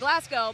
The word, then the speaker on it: Glasgow: tops from Glasgow Kentucky I don't know if I'm actually saying that right cuz you know that's how you would say it you take Glasgow but sometimes let us know how it's pronounced if it's not the traditional pronunciation alright we're gonna take